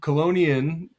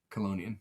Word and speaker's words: chelonian: So colonian you see how I said it is is um it's it's a Latin word and ch in Latin is pronounced like a k. So colonian.